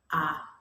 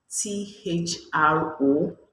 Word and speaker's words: Arthropoda: said that the phylum name for weevil is Arthropoda. You know, the R is silent. And the person said that I said from my pronunciation, it was Anthropod from my pronunciation, but the real pronunciation is arthropoda.